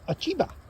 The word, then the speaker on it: Ochiba: We actually got Google Translate to pronounce it. It's Ochiba.